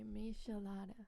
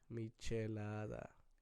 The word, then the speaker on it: michelada: A michelada. No. Did I say it right? Kinda. Michelada. Michelada.